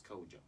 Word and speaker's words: Kodjo: Make sure you don't forget the D, because the D is silent. You better spell it. Kodjo. That's Kodjo.